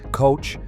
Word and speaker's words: coch: The Welsh pronunciation of coch, with the ch as in the Scottish loch, was Anglicized to Gough.